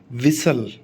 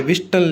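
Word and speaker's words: whistle: टी is always silent when comes between S एंड आई एंड एस एंड ई एन। कभी भी एस और आई के बीच में टी आ जाए और कभी भी एस और ई एन के बीच में टी आ जाए तो हमेशा टी साइलेंट रहेगा। कैसे? विसल, ठीक है, विसल। यहाँ पे विस्टल नहीं होता, विसल होता है।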